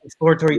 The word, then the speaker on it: exploratory: It comes from exploring. Yeah, it's two words. It's explore and atory.